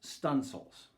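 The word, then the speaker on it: studding sail: But the sailors pronounce that word as stunsails.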